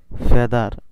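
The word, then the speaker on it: feather: এফ ই এ টি এস ই আর, ফেদার। এখানে ফেদার উচ্চারণ হওয়ার কারণ কি, কারণ এখানে বলা আছে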